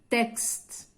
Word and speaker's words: texte: Donc la lettre X se prononce X lorsqu'elle se trouve à l'intérieur d'un mot. عندما توجد في وسط الكلمة. Exemple, texte. Texte. On entend X.